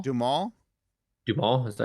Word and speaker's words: Duhamel: Wait, Josh Duhamel? Duhamel?